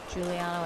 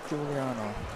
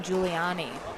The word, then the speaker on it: Giuliano: into the end change giuliano and jackson i feel like i was saying pep's last name wrong earlier in this game giuliano juliano i feel like i was saying giuliani before which we definitely don't want